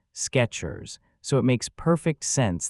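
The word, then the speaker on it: Skechers: The popular shoe brand is pronounced exactly like it sounds, Sketchers. So, it makes perfect sense that people remember the name being spelled with a T. Sketchers like the word sketch just with at the end.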